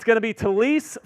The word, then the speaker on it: Taliese: It's going to be Taliese Fuaga out of Oregon State to the New Orleans Saints.